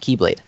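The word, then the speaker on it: χ-blade: But then it's also very confusing because there's a weapon in the lore that is called the X-Blade, but it's just pronounced Keyblade.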